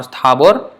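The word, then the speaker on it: স্থাবর: In Sanskrit, it would be sthavara jangama dekhe, but in Bengali, it is sthavar or sthabor.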